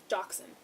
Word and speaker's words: dachshund: do you say that kind of dog's name dachshund there we go cheese uh mini dachshund a